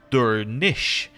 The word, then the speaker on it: Durnisk: Durnisk is pronounced Durnish since the final SC cluster sounds like an SH sound.